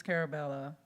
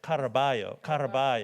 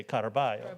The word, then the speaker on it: Caraballo: Carabella. She won't let me say it right. It's Caraballo. If you're from the 305, you say Caraballo.